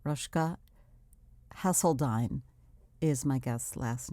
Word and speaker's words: Rosjke: to talk about so first of all rushka because i was not familiar with the name i want to spell it for my listeners rushka is spelled r o s as in sam j k e right rushka hasseldine is my guest